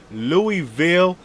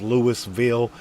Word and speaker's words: Louisville: Yeah, I learned how to say it way back in the day when I was talking about Hobie, man. You know, we come with this Lewisville. No, none of that bullshit.